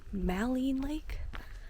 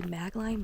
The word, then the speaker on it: Maligne Lake: to pronounce it wrong, Maligne Lake? It looks like it's supposed to be Maligne, but it's like Maligne Lake, I'm pretty sure.